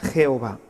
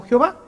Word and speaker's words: Jehová: jahova con la y se fue transformando en una j y de ahí tenemos a ahora la palabra Jehová esta palabra representa lo